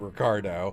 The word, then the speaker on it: Ricardo: It was like Ricardo, but you didn't say it right. Like avocado, but Ricardo.